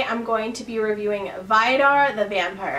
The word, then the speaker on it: Vidar: going to be reviewing vide are the vampire I think it's pronounced abide are it just came out